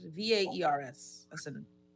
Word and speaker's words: VAERS: How do you pronounce it? VAERS.